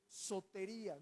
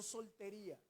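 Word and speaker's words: σωτηρία: La palabra salvación, quiero recordarte, viene de una palabra griega que se escribe sotería, no soltería, sotería.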